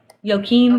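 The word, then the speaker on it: Joachim: that how it's pronounced it's a j but I'm not sure sure I want to say it's pronounced like a y yoim okay yeah cuz it's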